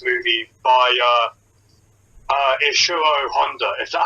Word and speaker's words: Honda: directing for this movie by uh uh isero Honda is that how you pronounce it is Honda yeah so it is topnotch it is some